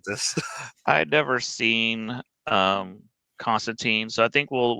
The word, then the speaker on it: Constantine: Uh you said Constantine rhymes with bean. My name's Constantine rhymes with wine.